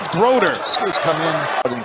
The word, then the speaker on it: Brodeur: it's spelled brodur if you're a hockey fan you think it's a great goaltender march and brodur but it's pronounced broder please come in but in coaching their space